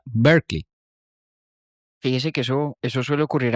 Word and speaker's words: Berkeley: del obispo es Berkeley y la ciudad en California se pronuncia Berkeley.